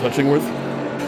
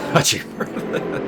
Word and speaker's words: Hutchingworth: It's actually pronounced Hutchingworth. Hutchingworth.